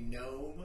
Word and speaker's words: Nome: you hey what what what city do I know in this world only rhymes with home so I was thinking gnome Alaska you know so